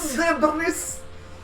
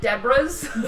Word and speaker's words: debris: Debris. I always love saying that word with the British accent. My It's so favorite, silly. I like to pronounce it Debras. Debris. Which is incorrect.